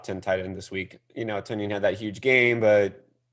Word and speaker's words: Tonyan: on fantasy football Twitter, that Robert Tonyan's name is actually supposed to be Tunyon. That's true. Which is pronounced the same as Funyon.